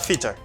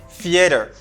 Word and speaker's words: theater: you know Tita no it's not feature it's not Teeter it's theater theater you can say theater or feeder not Teeter not cheater it's theater voiceless th theater it's hard I